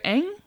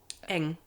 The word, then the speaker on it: Eng: Well, I'm glad you shared Esther Eng. Eng.